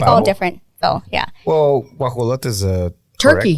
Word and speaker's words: guajolote: So like I'll say guajalote, and you'll be like bobo, pavo, or whatever. You know, it's like all different. So yeah, Well, guajolote is a Turkey.